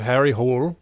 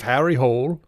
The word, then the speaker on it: Harry Hole: I watched the new like Detective Hole series cuz I was like, "It's got to be a pronunciation thing. It's got to not be that." And then immediately they're like, "Harry Hole?" And I'm like, "Okay, it's not."